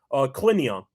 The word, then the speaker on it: Collignon: Collignon.